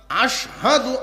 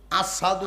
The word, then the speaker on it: আশহাদু: আশহাদু আন্না মুহাম্মাদার রাসূলুল্লাহ, এই যে আশহাদু, আশহাদুর শিন উচ্চারণ হইতো না, আসাদু কইতো।